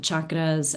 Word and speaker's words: chakra: And so just with a hard CH chakra, and it just means wheel of life or spinning wheels of energy.